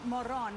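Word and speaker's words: Morón: This guy's name is Loren Moron, but it's spelled Moron.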